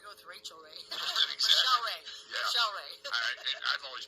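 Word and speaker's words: Rachelle Rae: And of course, Rochelle Ray is spelled Rachelle. That's Rochelle Ray, R-A-E.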